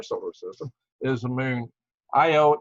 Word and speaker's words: Io: The most volcanic object in our solar system is the moon, Io, EO, depending on where you're a Carl Sagan follower or how you want to pronounce it. He called it EO, spelled Io, whatever.